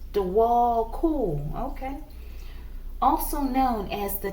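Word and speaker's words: Djwhal Khul: Pronounced Dewal Kul.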